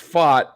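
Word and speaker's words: Pfaadt: last name uh fats it's pronounced fought it's um I'm trying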